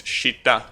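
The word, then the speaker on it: 下: You know, the normal pronunciation is shita.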